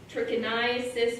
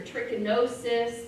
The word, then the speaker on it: trichinosis: spiralis again a nematode trichinosis or trichinosis there's a couple different ways you can say it larvae in meat a